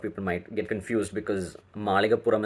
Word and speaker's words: Malikkapurram: might get confused because malikapuram is a very very strong Malayalam word with the usage of LA and puram is again